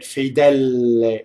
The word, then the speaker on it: Fedele: Fedele. This word I hear double L a lot, right? Fedele, right? And all you have to do for double L is hold the tongue in phonation.